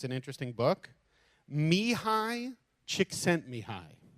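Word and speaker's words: Csikszentmihalyi: he deserves credit because it's an interesting book Mii chick sent Mii Mii chick sent Mii it's spelled not at all like you would expect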